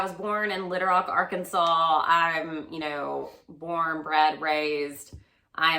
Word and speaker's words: Arkansas: It's not called Arkansas. So many British people think it's Arkansas. It's spelled Arkansas. It is spelled that way. It's a legitimate thought that it would be said that way, but it's called Arkansas, and it's basically northern Texas.